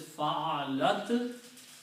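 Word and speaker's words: فعلت: But if we add in a ta at the end, It pronounces fa'alat, means she did.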